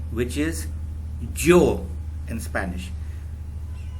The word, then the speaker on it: yo: Okay, the first one is I, which is yo in Spanish. In some countries they pronounce it sho, in some countries they pronounce it yo, and in most countries they pronounce it yo, just like with a J.